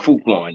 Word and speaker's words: Frukwan: He wants to be called Fruitkwan now.